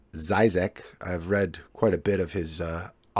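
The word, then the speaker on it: Žižek: And a recent article by the Slovenian philosopher, a prominent Slovenian philosopher, I believe his name is pronounced Zizek.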